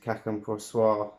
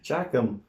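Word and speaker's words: Chacun Pour Soi: Chacum. I studied French. It's Cacum Poursois. Shock. It's not English. You don't pronounce the CH like chip.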